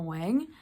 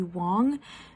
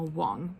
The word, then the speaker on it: Wang: is half Chinese, and the Chinese pronunciation would be Wong. So going forward, if I mess it up, I want to apologize. I will say it correctly in the future. It's Emma Wong.